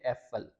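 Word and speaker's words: Äpfel: हम देखते हैं अभी, अब आफल होता है एक सेब, लेकिन जब हम उसकी प्लूरल फॉर्म बनाएंगे, जमा एक से ज़्यादा हो जाए, तो वो आफल नहीं रहेगा, उसको हम कहते हैं एफल। यानी कि अब शुरू में आ के बजाय आ उमलाउट हमने यूज़ किया, तो वो हो जाएगा एफल।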